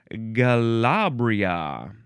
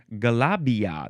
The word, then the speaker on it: galabia: Um, now we have the word Galabria. Galabria. You can spell it G A L A. Oh, no. Actually, Galabia. There's no R.